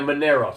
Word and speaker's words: Monero: Okay, and a Monero, spell that. Monero, right. Those are good. Dash is good. M-O-N-E-R-O? Correct. As in like an Italianized version of the idea of money.